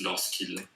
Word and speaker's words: lorsqu'il: Lorsque is when, whenever, but it's like lorsque, but because there's a vowel after, it becomes lorsqu'il.